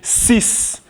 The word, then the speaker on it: six: In French, we say six. We don't say six. We don't say six. We don't say any other thing apart from six. It is six. And then this is dix. Dix. Six. Six. Dix. Six. Dix. So the X sounds like S. Six. Dix.